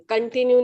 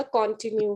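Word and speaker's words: continue: कंटिन्यू नहीं होता, कॉन्टिन्यू होता है.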